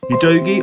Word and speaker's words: Udogie: Going on to my second target, UDOGIE or UDOGIE, that's how you pronounce it from the Sky Sports pundits.